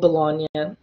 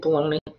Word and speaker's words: Bologna: This is an example a piece of art that represents the school of Bologna, which is spelled like baloney. Okay, don't say school of baloney.